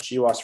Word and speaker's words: GWAS: It's pronounced GWAS for short.